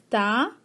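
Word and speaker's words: ت: Te will be pronounced as Ta, and Fe will be pronounced as Fa.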